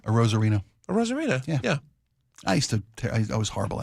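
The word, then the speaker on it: Arozarena: Arozareno.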